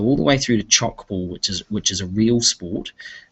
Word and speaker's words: tchoukball: And it's probably easiest just to Google chalk ball. It's spelled TCHOUKBALL. Kirkwood Intermediate have chalk ball nets, real chalk ball